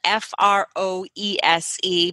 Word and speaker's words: Froese: Just as a little side note, your last name is spelled F-R-O-E-S-E, but it's pronounced Froese.